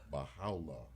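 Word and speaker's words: Bahá'u'lláh: Baha'u'llah, could you pronounce Baha'u'llah. Baha'u'llah.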